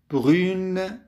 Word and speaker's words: brune: الروب بني ولكن أخذ بالأخير، فبران بني صارت تلفظ brune بنية.